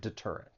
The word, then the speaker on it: deterrent: deterrent or an effective deterrent this word has three syllables the stress is on that second syllable deterrent now one thing I want